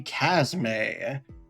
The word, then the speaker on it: Chasme: And in today's video, we are going to talk about the Casme. I double checked on that pronunciation that.